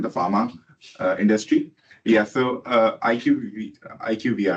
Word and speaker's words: IQVIA: So IQVIA, right? Am I pronouncing it right?